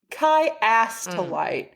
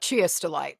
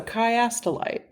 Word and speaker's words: Chiastolite: Kai to light. And again, you would not probably think that that's how it's pronounced because if if I were to guess, it looks like Chia.